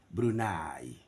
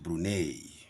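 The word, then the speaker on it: Brunei: not a that's Abraham brunai not brune no brunai Switzerland you can consult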